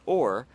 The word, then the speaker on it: O.A.R.: that's encouraging to you Oar by the way is pronounced or which is like having an or to help you row through life in a more gracious way I hope that's helpful